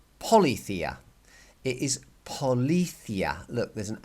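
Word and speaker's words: policía: these accents are to telling you how you pronounce the word so it is not Pali Thea for example it is not Pali Thea and it is not Pali Thea it is Paula Thea look there's an accent on that eye which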